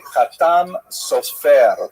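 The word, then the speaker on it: חתם סופר: Obviously, some of the consonants are slightly different and the emphasis tends to be on the last syllable, but the Ashkanazi pronunciation tends to be on the first syllable.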